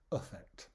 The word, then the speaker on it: affect: In fact, we pronounce them both effect, or not effect, sorry, my mistake, affect. The is the schwa sound, so it's not affect, the a becomes and it's not effect, the e becomes And again, if you